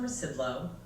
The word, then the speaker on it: Rzucidlo: I'm Rzucidlo. The Z is silent.